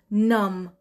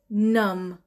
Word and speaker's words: numb: اون کلمه هم هست نم، نم، نم. سپلنگش رو میگم NUMB، آخرش B داره، B مثل بنانه، ولی B در کلمه نم B صدا هست، نم، نم، یعنی فقط ما NUM رو تلفظ میکنیم، اون B آخرش B